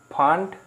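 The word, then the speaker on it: Pfund: সেগুলো হচ্ছে passion, bracket, ফান্ড বা ফুন্ড, যেরকম উচ্চারণ আছে বইয়ে, বা একটা হচ্ছে হামফ্রে।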